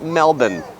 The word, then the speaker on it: Melbourne: It's spelled like Melbourne, but it's pronounced Melbourne.